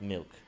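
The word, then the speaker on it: Mylk: we we we it's it's the same pronunciation but it's different spelling hole that's a weird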